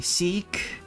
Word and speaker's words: seek: Seek. The I is pronounced like E and seek.